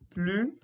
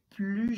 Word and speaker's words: plus: Felipe, nesse caso, você não pronunciou o S da palavrinha plus. Não, aqui a gente não pronuncia, pessoal. Quando nós temos esse tipo de comparação, estou comparando adjetivos e advérbios, o S aqui não será pronunciado, tá?